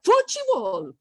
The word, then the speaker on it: futebol: They turned it into 3 syllables, right? It doesn't go 4 because it ends with bol. It's like a U. Futebol, bol. Is that right? Yeah. Okay. So what they did is they added a fuchi, and the T changes to ch in Brazilian Portuguese.